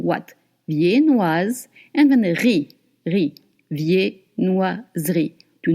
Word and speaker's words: viennoiserie: Viennoise, and then ri, viennoiserie. Do not look at it. Do not pronounce the E between the S and the R.